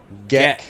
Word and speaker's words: Geck: Geck, Geck. It's a hard G. like a Geck, gecko.